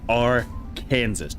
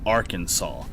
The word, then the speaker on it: Arkansas: But no, that's that's Birmingham Ham just like R Kansas. No, Arkansas.